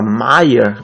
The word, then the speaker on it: Méier: Por sua causa, a região começou a ficar conhecida como Meia com Y. Porém, como todo mundo pronunciava Maia com A, de tanto falarem assim, os moradores da região aportugaram o bairro e começaram a chamar a região de Meia, que nós conhecemos hoje em dia.